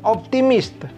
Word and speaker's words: optimistes: Ini yang plurial, kalian, vous êtes optimiste. Dari segi bunyi, tetap aja itu tidak dibunyikan S-nya.